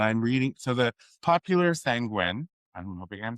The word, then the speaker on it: sanguine: So the popular sanguine, I'm hoping I'm saying it right.